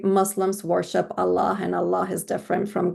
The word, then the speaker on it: Allah: they can all pronounce Allah because every baby can make the sound ah and la. So if you can say these two sounds, anybody can say the word Allah.